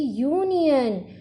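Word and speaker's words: union: वैसे ही यूनियन, यू, यहाँ पे भी यू का साउंड आ रहा है, यू।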